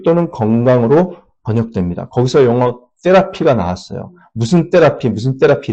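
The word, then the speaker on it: therapy: 거기서 영어 테라피가 나왔어요. 무슨 테라피, 무슨 테라피 이러잖아요. 예. 테라피라고 테라피. 영어 발음으로 세라피입니다.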